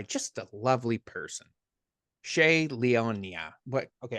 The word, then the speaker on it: Leonia: am joined by just a lovely person Shay Leona what okay how do you say your last